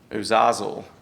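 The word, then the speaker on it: Azazel: to pronounce it again, Uzazel. Doesn't look like it would be pronounced like that.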